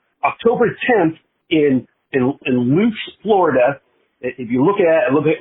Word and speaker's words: Lutz: the residence in Tampa Sun Coast there in Loots.